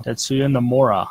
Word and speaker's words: Tetsuya Nomura: Tetsuya Nomura, I was saying it right.